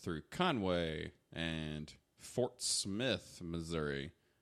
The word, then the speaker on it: Missouri: and Fort Smith Missouri or as somebody once told me Missouri and I looked at them like they just grew a norm out of their face uh uses people that are from Missouri mispronounce it that way yeah Oklahoma City we